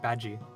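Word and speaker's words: Badguy: spelled bad guy, but he's like, oh no, it's not bad guy. It's pronounced Badgie.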